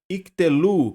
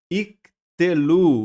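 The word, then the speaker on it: יִקְטְלוּ: Mas note aqui comigo, o primeiro Shivá vai ser mudo. Olha aqui, ó, iktelu.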